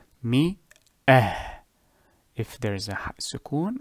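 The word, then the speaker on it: مائة: So it is pronounced mi-ah.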